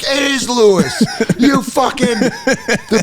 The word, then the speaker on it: Lewis: watch his family at be like it is Lewis you the bigheaded idiot got